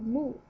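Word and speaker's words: 木: right so the left is a character of moo moo the meaning of it is wood or tree the right part is pronounced as Tai Tai as you can tell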